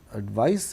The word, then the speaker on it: advice: So, here it's advice, advise, and also remember that there's a slight differentiation in the pronunciation, advice and advise.